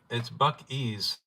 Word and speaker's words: Buc-ee's: It's Buck Ease. Like Buck Wild.